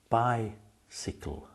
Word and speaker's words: bicycle: In the first syllable by, you have the long I sound by. In the second syllable, s the Y is short. You don't say sigh, you say s. So we say bicycle.